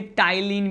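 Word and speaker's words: ptyalin: क्या कहते हैं, इसे टाइलिन भी कहते हैं। क्या कहते हैं इसे टाइलिन भी कहते हैं, और ये टाइलिन में पी साइलेंट है।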